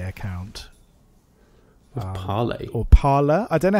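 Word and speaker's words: Parler: r so for me I pronounce it par like the French for speak but I've seen other people pronounce it like paror um but I choose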